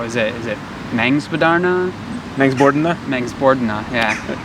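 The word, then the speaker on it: Mångsbodarna: Is it Mengsbordna? Mengsbordna, yeah. Put the wrong emphasis on the wrong syllable. Mengsbordna.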